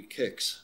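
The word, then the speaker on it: Qix: coming around at you i believe the technical way to pronounce this is supposed to be kicks which i always thought was strange i'm calling it quicks if you go slower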